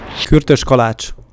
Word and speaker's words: Kürtös kalács: I believe that is called kurtos kalak. Kürtös kalács.